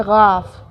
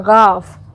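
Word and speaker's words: گاف: इसको बोलते हैं गाफ। क्या बोलते हैं? गाफ, गला से बोलना है, गाफ, ठीक है।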